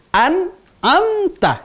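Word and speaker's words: أنعمت: Pada lafaz Siratal ladzina an'amta alaihim. Siratal ladzina an'amta. Nah ya, an'amta. Jangan an'amta atau an'amta, semua hurufnya sama. Harus dibedakan. An'amta, ya.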